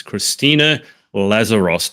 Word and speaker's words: Christina Lazaros: My special guest for today is Christina Lazaros. Did I pronounce that correctly?